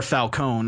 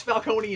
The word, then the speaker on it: Falcone: here with Tom Wilkinson as Falcone or Falone I don't know anymore no it's Falcone and but it's so